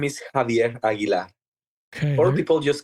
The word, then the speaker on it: Javier Aguilar: My name is Javier Aguilar.